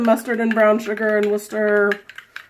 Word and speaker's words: Worcester: and brown sugar and Worcester. See, she called it Worcester because you. she knows that's the right way to say it.